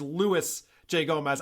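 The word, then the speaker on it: Luis J. Gomez: By the way, I just want to tell you, it's Louis J. Gomez. I made the same mistake and got called out for it. Oh. It's very important you pronounce his name right or he goes after you.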